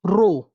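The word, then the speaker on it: ρ: row L by a this sign is pronounced as row row L by a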